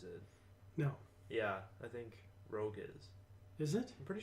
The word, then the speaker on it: Rogue: we got Assassin's Creed Rouge Rogue Rouge Rogue Rose uh I think it's Rogue oh makes more sense it would be that it's it's as Rouge here okay yeah that's